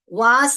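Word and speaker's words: vase: देखिए यह है वास भी बोलते हैं वेस भी बोलते हैं। ओके तो वास जो है हमारा British English वेस्ट American English pronunciation सिर्फ फर्क होता है।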